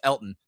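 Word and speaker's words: Elgton: He actually went on media tour and like stop calling me Elton. It's it's just Elton. The G is silent.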